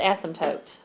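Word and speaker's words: asymptote: funny you pronounce it ASM toote the p is silent so we have an ASM toote here sounds funny okay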